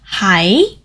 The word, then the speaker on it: 喺: To express that I am in the UK, we would say 我喺英國.